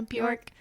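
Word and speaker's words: Björk: Yeah, Bjork.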